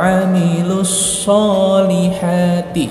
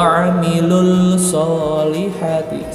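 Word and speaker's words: وَعَمِلُوا الصَّالِحَاتِ: Radadnahu asfala safilin illal ladzina amanu wa 'amilus sholihati.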